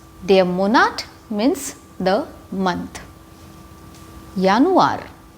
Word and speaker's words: Januar: monart means the month yanuar yanwar january as we have learned in the alphabets the j of english is yacht in german and it's pronounced like y like year february february maths march